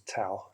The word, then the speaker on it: Dao: So this word Tao, D-A-O, which is also sometimes pronounced as Tao, T-A-O, especially in the West, but it's a Chinese word.